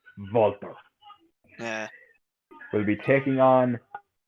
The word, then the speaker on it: Walter: For any Americans listening, it is not pronounced Walter. It is always and shall be pronounced as the Ring General Walter.